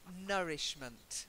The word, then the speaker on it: nourishment: Okay, the next word is nourishment. To nourish, nourishment. Not new. Not new, It's no, no.